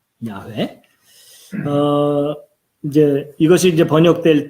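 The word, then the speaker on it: Yahweh: 예, 이게 이제 이 정확한 발음은 누구도 모르는데 이제 우리가 일반적으로 야훼라고 발음하는 그 이름이에요. 야훼.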